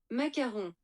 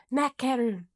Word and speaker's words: macaron: I want to make sure I'm saying that right. So I'm going to play the pronunciation. Macaron. Macaron. Okay, cool. Is it the French president that's Macron? Yeah. I think that's what I was confusing it with. Not to be confused with the politician.